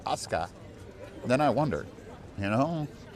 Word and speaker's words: Asuka: You know, if you write Asuka but you say Aska, then I wonder.